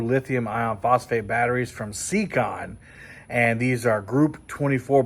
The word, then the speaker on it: Siekon: I'll talk about those more later but uh secon secon is how you pronounce the brand name they are smaller than